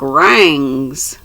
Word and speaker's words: Rheims: Doctor dear, can you tell me if RHEIMS is rhymes, spelled like RIMES, or reams, REEMS, or rames, RAMES, or rims, REMS? I believe it's really more like rangs, said Susan. RHANGS.